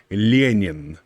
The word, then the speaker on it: Lenin: love it he needs lenin uh or in how russians would pronounce it would be leenian lenin um but he brings